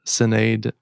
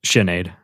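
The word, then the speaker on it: Sinéad: But anyway, shout out to Senade Okconor. Is that how you say her name? Shenade.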